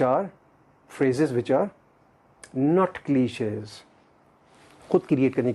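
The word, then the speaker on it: cliché: क्लीशे, इसको सही अपने प्रोनाउंस करना है, करेक्ट प्रोनाउंसिएशन करनी है CLICHE एक्सेंट के साथ। क्लीशे ये फ्रेंच वर्ड है, इसका मतलब है स्टीरियोटाइप।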